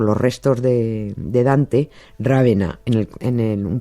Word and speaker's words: Ravenna: Dante, sí, Dante murió en Ravena o en o en Ravenna, para que no me regañe nadie por la pronunciación.